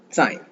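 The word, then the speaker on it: 在: ஸோ இதுக்கு முன்னாடி இந்த Z வரும்போது பார்த்துருக்கோம் DS சவுண்ட். ஸோ அடுத்து AI, Zக்கு DS, இதுக்கு அடுத்து அந்த ZAI. சாய் சாய் சாய் சாய். இதுக்கு முன்னாடி ஒரு வேர்டு சாய் அப்படின்னு பார்த்தோம், அகைன் அப்படின்ற மீனிங்ல. இங்க சாய் அதே சேம் ப்ரொனன்சியேஷன், சேம் டோன் தான், பட் மீனிங் வேற வேற.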